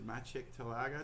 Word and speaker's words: Maciej Talaga: And I have the great pleasure today to speak to Maciej Talaga. Did I pronounce that all right?